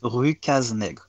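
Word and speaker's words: Rue Cases-Nègres: Yeah, the original name in French is Rue Cazenègre. Yeah, thank you for the authentic pronunciation for this podcast.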